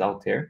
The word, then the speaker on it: Altair: I think it's Altair that you pronounce it.